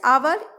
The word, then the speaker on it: hour: The first one is hour, H is silent.